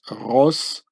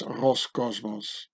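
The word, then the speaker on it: Роскосмос: It says Roscosmos. It's quite easy. There's just a few letters that are different, you know. And so the Cyrillic Russian C gets pronounced as an S. So it says Roscosmos.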